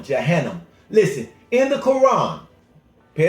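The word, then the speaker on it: Jahannam: what the Holy Quran says about hell or Johannam. Spell with it. J A H A N A M. Johannam.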